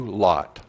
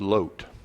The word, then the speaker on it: Lot: people descended from Abraham's nephew lot or the correct hebrew pronunciation of that is load King Balak was a